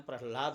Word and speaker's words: प्रह्लाद: वैसे हम प्रहलाद बोलते हैं लेकिन असली नाम है राद, संग्राद, अनुरालाद और प्रह्लाद। ये चार पुत्र हैं। तो उच्चारण में आसानी हो जाए इसलिए हम प्रह्लाद बोलते हैं। लेकिन यहां जो भागवत में नाम है उसका उसमें क्या है? प्रह्लाद। र है र ह के नीचे ल नहीं।